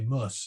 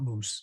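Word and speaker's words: -mus: moose ending in there or actually muss it's not moose moose um cantatus is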